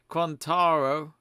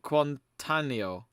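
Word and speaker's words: Quartararo: know what day is it rodeni uh says quantaro not quantanio Tania quintania as you say Oh I thought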